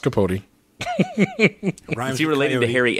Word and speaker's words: Capote: It's pronounced Capote.